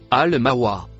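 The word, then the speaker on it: المأوى: Le mot bleu clair se prononce al-mawa.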